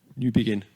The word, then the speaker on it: Newbigin: O teólogo inglês é Leslie Newbigin, como que pronuncia? Newbigin.